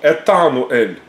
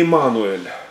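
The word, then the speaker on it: Иммануэль: Вот, потому что если на иврите, если я говорю «с нами Бог», да, то «Этануэль», «Этануэль» произносится. Но не Эммануэль. Эммануэль так не говорит никогда вообще никто. Вот это потому что выглядит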